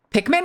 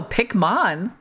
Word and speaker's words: Pikmin: Pikmin? No, Pikmin. Pick spelled like pickaxe.